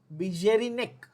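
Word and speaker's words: Beijerinck: Some people, the actual pronunciation should be Bijerinek.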